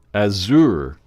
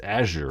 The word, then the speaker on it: Azure: the hell is that azour Azure or azour azur Azure it's right it's Azure right that's how you pronounce that Azure Azure yeah but